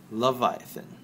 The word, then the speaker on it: Laevatein: Laevatein.